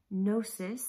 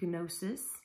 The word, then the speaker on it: gnosis: have heard it pronounced gnosis but in our english language of course we typically leave off that g sound so sometimes it is